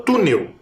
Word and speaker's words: túnel: também tá E sobrou túnel também de duas sílabas olha lá ó T Neu termina em L mas agora a sílaba tônica é a penúltima ela é paroxítona tá por isso que